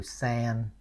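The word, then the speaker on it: Sen: you it's Lotus right there's another one too sand okay so in some in some area they Nam their daughter sand okay S N Sand I don't know if it's official but you know they call Sand a lot you know a lot of girls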